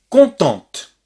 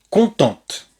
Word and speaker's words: contente: Parce que si on entend le T, eh bien ce qu'on entend, c'est le féminin. Elle est contente.